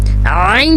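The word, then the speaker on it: ع: आइन जो है ये भी हमारा मिडिल थॉट से प्रोनाउंस होता है।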